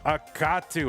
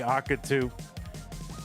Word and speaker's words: Akatu: On the right side of your screen it's Akatu. I always say akatu, but uh I'm sure it's a katu cuz the middle syllable is capitalized. So that makes a lot of sense to me and I don't know